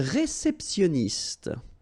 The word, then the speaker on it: réceptionniste: Okay, remember when you get this T-I-O-N, so normally it will give you this S. I mean, I'm talking about the T here, okay? So, sioniste, okay? Réceptionniste, all right?